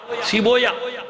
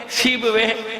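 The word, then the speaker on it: سیبویہ: دیا کہ بعض اوقات لوگ اس کا تلفظ صحیح نہیں کر پاتے، بابوے کو بابویا پڑھتے ہیں، کیا پڑھتے ہیں؟ بابویا، سیبویا، اولویا، یہ نہیں ہے، بابوے، اولوے، سیبوے۔ صلوات بھیجئے محمد آل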